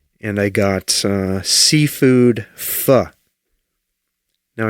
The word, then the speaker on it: pho: Now, I know some people pronounce the Vietnamese soup fo. That's how I usually pronounce it. But today, I decided to say fu. I don't like saying fu, even though I think that is phonetically correct.